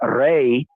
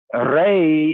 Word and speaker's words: Ra: The Elohim of we, the Hebrews, against the priestly conceptions and denomination that regarded their Ray. Ray is the more proper ancient Committee way of pronouncing the one they call Ra.